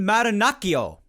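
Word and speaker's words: Marinaccio: that as well ron maranachio that's how i believe that's how you pronounce that name and looking at it as someone who speaks a decent amount of italian that's how it should be pronounced if it's not so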